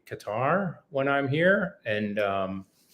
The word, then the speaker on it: Qatar: uh this country so the correct pronunciation through exhaustive research by many people is Qatar but the first um syllables kind of not a sound that exists in English it's an Arabic sound so most of the